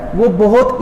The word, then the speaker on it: verb: इस तरीके से मिलेगा, जिसमें आप लोग आर को साइलेंट रखोगे। तो कोशिश कीजिएगा कि वर्ब ना कह करके इसको वाब कहें। वाब, इसका जो प्रोनाउंसिएशन है, करेक्ट प्रोनाउंसिएशन वो ट्रांसक्रिप्शन के अकॉर्डिंग वाब होता है, ना कि वर्ब।